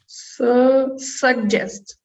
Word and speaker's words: suggest: very good so this the first sound is g the second sound is ja like j so we have that same thing happening where the first one go the second one ju like just like just the word just right saw just so